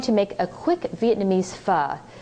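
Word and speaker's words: phở: make a quick Vietnamese F it's spelled pH so it looks like faux but it's pronounced f as in fun this is a soothing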